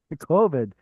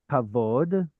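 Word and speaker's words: כבוד: COVID. Okay, so wow. Kavod is the usual one.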